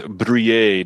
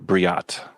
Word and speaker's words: Brouillet: Aaron want us to know that it is Brouillet, not Briat.